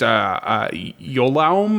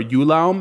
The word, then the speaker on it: Ioulaum: It's Yolaum or Ulaum. It's Ioulaum.